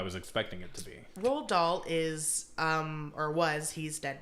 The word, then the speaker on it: Roald Dahl: How do you pronounce his name? Roald Dahl? Yeah. Roald Dahl.